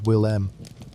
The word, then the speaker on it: Willem: His name was Willem, which you may say as Will-M, and he was the